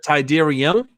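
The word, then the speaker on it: Tydirium: what's your access code um tyderium is that tyderium it's the m yes oh how do you spell that t-y-d-e-r-i-u-m huh well thank you for clarifying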